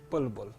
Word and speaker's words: Bulbul: That's Lord Bulbul. Bulbul. B-U-L-B-U-L. Bulbul. Yeah, Bilbo. Yeah, okay. Belba. There's no E there. Is it Bilbo? Well, it's spelled B-U-L-B-U-L. Bulbul. Okay, Bulbul. yeah. Okay, it's not Bilbo.